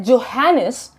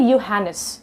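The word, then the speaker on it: Johannes: हाँ तो दोस्तों, नाम तो वैसे है जोहानिस, लेकिन ये एक जर्मन इंसान थे, इसीलिए प्रोनाउंसिएशन है यूहानिस। तो हम लोग भी उसी तरीके से प्रोनाउंस करते हैं यूहानिस।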